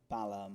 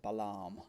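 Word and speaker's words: Balham: Yeah, and it's really gross, and so everyone pronounces it Balaam to try and make it sound more posh. Oh, really? Yeah. Balaam.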